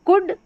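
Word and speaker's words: could: Number 6 पर देखिए उड, OULD उड, OULD उड, तो कुड वुड। अब कुल्ड वुल्ड नहीं पढ़ना, एल का उच्चारण होता ही नहीं है, साइलेंट है, तो इसको शुड, OULD उड, शुड।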